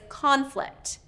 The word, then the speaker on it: conflict: Another example is conflict. Conflict, the noun, conflict versus conflict. Conflict, conflict, conflict. Okay, two different pronunciations based on this rule of noun and verb.